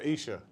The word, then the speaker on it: Esher: But Esher from Esher.